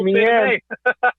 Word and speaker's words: Meehan: See, I said it right. Meehan. You got it right, man. Thank you. I know, because I'm looking at on the computer right now. There you go, Meehan.